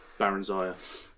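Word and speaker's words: Barenziah: Oh, it's not Berenzia, it's Baron Zaya.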